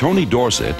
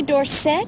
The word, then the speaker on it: Dorsett: liked it and anyway D set is supposed to be a French name and S spells set and not sit so I think that is the correct pronunciation fittingly America's best ever